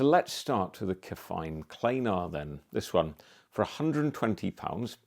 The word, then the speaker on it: klanar: And we have the cheaper Kefine klanar, I think klanar because it rhymes with planar, at £120.